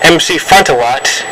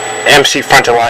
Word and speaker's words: MC Frontalot: to see what these Proto men were and MC Frontalot in Metroid Meadow now you don't mean to notice in the video to actually mispronounce their names MC Frontier lot and Metroid metal I mean I really I